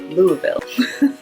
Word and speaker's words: Louisville: Louisville or Louisville, but they take out a lot of those letters and just say Louisville.